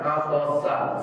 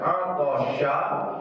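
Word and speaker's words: عطس: Itu kalau sinnya atasa, sa biasa. Atasa, bangkis. Tapi kalau dibacanya atosha, shinnya besar. Idza atosha bukan lagi bangkis. Atosha artinya haus.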